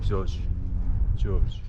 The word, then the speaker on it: Georges: 발음 조심하셔야 됩니다. 조지.